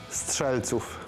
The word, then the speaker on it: strzelców: Strzelców. Okay. Strzelców.